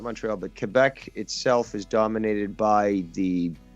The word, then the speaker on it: Quebec: pool queue right yeah so they usually say quebec but yeah french in french it's k like huh but uh yeah even canadians say quebec okay but it's yeah if you're looking to pronounce it proper it is quebec and last time the